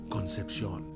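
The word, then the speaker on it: Concepción: says conception I imagined since it is a Spanish area it's pronounced Concepcion they get there and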